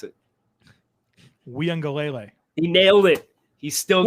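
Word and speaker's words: Uiagalelei: this um joe clemson quarterback how do you pronounce it we on galele he nailed it he's still we had a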